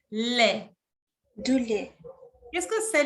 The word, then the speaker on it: lait: Non se prononce à la T. Du lait.